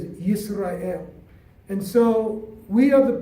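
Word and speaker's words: ישראל: Today we say Israel, but in Hebrew we pronounce it as Yisrael.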